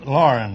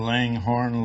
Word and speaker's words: Loughran: Loughran, huh? Is that the way you pronounce it? Lauren, that's close enough. I've been called Langhorn, Laughlin, and lots of names.